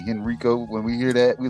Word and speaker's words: Henrico: That's how you say it, Henrico. I keep on saying Henrico. That's what a lot of people say, and that's how like people here, we know those people are not from here, because when we